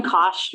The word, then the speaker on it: Koch: your name i'm sorry it's kosh but people always pronounce it i'm sorry so you can start sharing your screen i'm not sure okay um all right so yeah i'm koch and i'm a phd